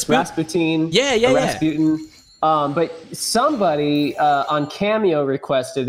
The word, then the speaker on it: Rasputin: Rasputin.